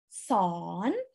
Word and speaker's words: สอน: สอน. สอนDon't pronounce the R sound, nah, it's actually aw.